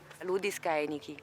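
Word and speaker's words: Ludi scaenici: Ludi Scaenichi. Scaenichi. Pronuncia antica.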